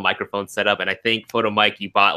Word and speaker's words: Photomeike: It's kind of like a play, you know, like take a picture of me, Ike, photo me.